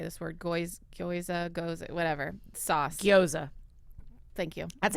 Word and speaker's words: gyoza: Gyoza.